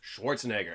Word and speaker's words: Schwarzenegger: But really, you look at that name, it's pronounced the way it's spelled. Yeah. Like, people like to say, like, if you can pronounce... The actor's Arnold Schwarzenegger.